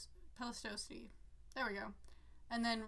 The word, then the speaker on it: Pleistocene: I already know I'm pronouncing all these wrong. Pleistocene.